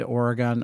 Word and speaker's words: Oregon: Bend Oregon for or it's called Oregon Oregon you got to pronounce it Oregon um that's what the locals say not Oregon Oregon so um my oldest